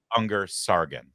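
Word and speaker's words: Ungar-Sargon: So, now Bacha uh uh I always get her name wrong. Anger Sargon, thank you.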